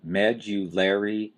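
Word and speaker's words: medullary: hard one to say medular cavity you've got a strong stress on the first syllable Med and then you've got a lesser stress on the third syllable Lair medular cavity well what is a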